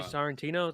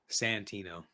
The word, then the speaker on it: Santino: Andrew Sorrentino? That how you say it? Sorrentino or is it Santino? Santino.